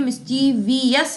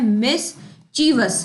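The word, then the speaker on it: mischievous: ये मिस्चीवियस की spelling again SSC ने बहुत बार पूछी है, मिस्चीवियस नहीं होता, ये स्पेलिंग बहुत बार स्टूडेंट्स गलत करते हैं। ये वर्ड होता है मिस चीवस, है ना, इसमें ची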